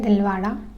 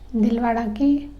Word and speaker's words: दिलवारा: दिलवारा मंदिर। ठीक है? यह कहां है? माउंट आबू , राजस्थान। ठीक है? तो दिलवारा। दिलवारा में इसका उच्चारण "दिल बड़ा" की तरह होता है, जिसका अर्थ है बड़ा दिल।